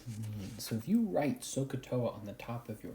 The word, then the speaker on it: SOHCAHTOA: That acronym is called Sohcahtoa.